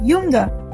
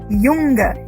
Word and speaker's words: Junge: Yes, Junge, because J in German is pronounced as Y. J gives the sound of Y. Okay, that is why. Junge.